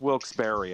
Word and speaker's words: Wilkes-Barre: highways we're like near wilkes-barre like over wilkes-barre but it is actually pronounced wilkes-barre apparently we can read the use